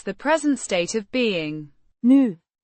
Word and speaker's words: nu: New adverb meaning now or currently pronounced new. Similar to the English new but shorter.